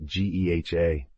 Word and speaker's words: GEHA: The stadium has been officially named Geha Field at Arrowhead Stadium, pronounced Geha, since 2021.